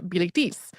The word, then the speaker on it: Bilitis: female students, who was named in the French pronunciation Bilitis.